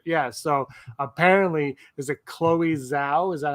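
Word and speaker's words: Chloé Zhao: So apparently, is it Chloe Zhao?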